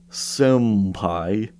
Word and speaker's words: senpai: am always perplexed that some English translators write senpai with an m like it's literally not an m a sound it's it's not even in Japanese it's literally an n Sound like 100 percent there is there is no way to deny that it's an n and not an m so I don't know